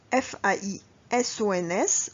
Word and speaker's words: faisons: لاحظوا معايا بأنه تيتكتب FAISONS وكننطقوه ماشي faisons.